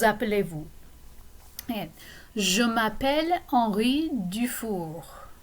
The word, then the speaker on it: Dufour: And je m'appelle Henri Dufour. Notice I pronounce the R at the end of Dufour.